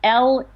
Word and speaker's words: Leupold: Both of my anthologies, Late Medieval Music and Renaissance Music, are published by Wayne Leopold. And that's Leopold Editions. I'll spell that. It's Leupold.